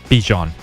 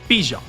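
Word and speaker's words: Bijan: How you pronounce my name is Bjon for everybody that's that's out there. Um, I know a lot of people say Bjon, but it's Bjon.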